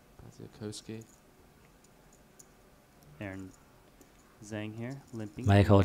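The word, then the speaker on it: Badziakouski: 来看看这手牌，藏哥九秀同色，敲一下吗？I believe the correct pronunciation or Baziakowski. Baziakowski.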